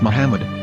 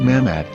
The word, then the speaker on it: Muhammad: According to Ben Yehuda's Hebrew English dictionary, it is correctly pronounced as Muhammad, not Mammad.